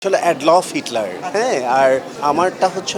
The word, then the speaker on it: Adolf: অ্যাডলফ, হ্যাঁ, অনেকেই উচ্চারণটা করে প্রনাউন্স করে অ্যাডলফ, কিন্তু আসলে অ্যাকচুয়ালি আমার নাম অ্যাডলফ। সত্যি কথাই বলবো, আমাকে আসলে বলাই হয়নি।